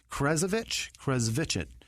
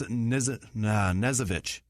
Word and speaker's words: Knezovich: Adrian, Nick, Krezovich. No, it's an N. That's Nezovich. That's it. Yeah? Because you don't pronounce the K, right?